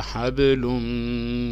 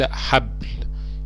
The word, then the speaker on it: حبل: ونلاحظ برضو في كلمة حبل في آخر آية حرف الباء برضو حرف ساكن، فنطقته حب وليس حبل.